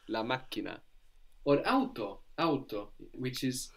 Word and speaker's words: macchina: Is la macchina, which actually la just macchina. Means machine. That's spelled M-A-C-C-H-I-N-A. You like that? So that's spelled M-A-C-C-H-I, which gives us the hard K sound, C-H-I-K-N-A, na, la macchina.